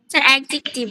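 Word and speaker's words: adjective: অ্যাডজেক্টিভ। অ্যাডজেক্টিভ, right, অ্যাডজেক্টিভ। দেখো এটার একটা সঠিক উচ্চারণ আছে, যদিও আমরা অ্যাডজেক্টিভ বলি বাট এটা ডি এর উচ্চারণটা হয় না।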